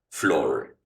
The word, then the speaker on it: floor: Flor suena a flor.